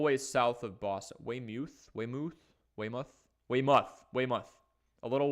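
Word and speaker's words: Weymouth: of the pack ma football guys saying it's pronounced waymoth a little way south of Boston wayth Waymouth Waymouth Waymouth Waymouth a little way south of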